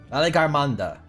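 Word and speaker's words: Valigarmanda: prison within their Temple or as I like to call him Valley Girl Amanda that's the main reason why I remember how to pronounce its name because I realized it's a lot like Valley Girl Amanda which amused me to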